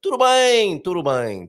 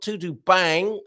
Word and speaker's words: tudo bem: It's a nasal sound on the bang. So tudo bem, not tudo bang, as Portuguese says.